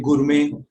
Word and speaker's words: gourmet: So there are certain words that have been borrowed from French that end with et. There again, the t is silent, as in ballet, buffet, gourmet.